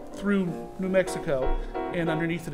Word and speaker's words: Thoreau: but it's not called thoreau and m surprisingly it's called through and m okay it's